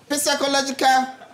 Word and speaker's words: psychological: Psychological. The P is silent.